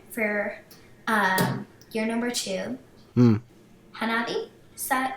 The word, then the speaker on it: Hanabi: For your number two, Hanabi? Is that how you pronounce it?